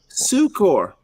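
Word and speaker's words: succor: Sucor. That's how the nuns taught me to pronounce it. To separate it from sucker.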